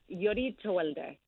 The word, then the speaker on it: Yodit Tewolde: Yodit Tewolde. Oh, okay. You got to have the roll of that tongue.